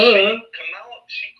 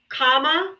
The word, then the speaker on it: Kamala: Kamala, Her name is Kamala. Kamala. No, Comma? that's what you call her. No. She was the vice president of this country. Put some respect on her name. Say it right, or just say Harris.